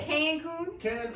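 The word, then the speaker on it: Cancún: Oh, so you say Cancun?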